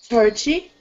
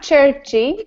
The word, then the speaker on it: church: Can you please repeat the word churchy? Not churchy, just church. Church.